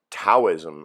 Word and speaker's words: Taoism: Taoism, or Taoism as the British pronounce it.